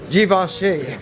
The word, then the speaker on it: Givenchy: They don't have my size in the Givenchy. How do you pronounce it? Givenchy.